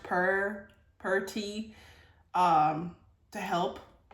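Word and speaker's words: pu-erh: But it's pronounced puer puer tea.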